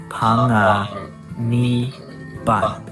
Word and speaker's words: Panganiban: Ma, pa, pang, panga, ni, ban. Like banzai. So throw in a little Filipino accent flair and you get panganiban.